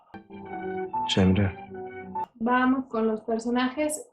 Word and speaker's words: Cemre: quiero que sepáis que su nombre original es Genre. Cemre.